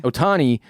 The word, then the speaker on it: Ohtani: baseball even with this dude how do you pronounce his last name i always blow it ohtani ohtani who can play both sides pitching he's hitting